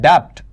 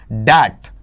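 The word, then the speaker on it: debt: इसमें जो बी है वो साइलेंट रहता है भाई। बी इसमें क्या रहेगा? साइलेंट बोला नहीं जाएगा। तो आप इसे ऐसा नहीं पढ़ेंगे। अगर आपके द्वारा यह पढ़ा जाता है डेप्ट तो गलत है। यह उच्चारण आपका इनकरेक्ट रहेगा।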